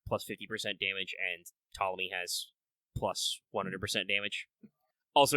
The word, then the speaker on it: Ptolemy: It is not Ptolemy, it is Ptolemy. You can say Ptolemy as a joke, or Ptolemy as a joke there. See, I said it correctly the right way around. But no, the P is silent if you're curious.